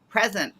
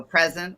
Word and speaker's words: present: So present with the stress on the first syllable means to be here and now, just like in the book.